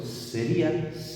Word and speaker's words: sería: En cambio, si yo lo pronuncio sería, esta I la pronuncio como abierta, ¿vale?